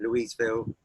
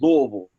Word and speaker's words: Louisville: The way they pronounce it is Louisville. They pronounce it Louisville. Louisville.